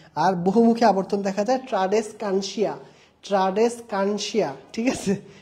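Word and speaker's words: Tradescantia: বহুমুখী আবর্তন দেখা যায় ট্রাডেসকানসিয়া ট্রাডেসকানসিয়া ঠিক আছে নামটা মনে রাখবা উচ্চারণটা এভাবে করবা ট্রাডেস কানসিয়া ঠিক আছে তাহলে পারবা ট্রাডেসকানসিয়া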